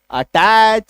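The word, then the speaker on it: attach: जब किसी शब्द के लास्ट में सी एच आए, तब सी एच का उच्चारण च होता है। जैसे A double T ए सी एच, अटैच, सी ओ ए सी H, coach, P ए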